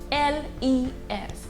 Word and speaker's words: les: is the article le l-e-s it's pronounced as le now le is a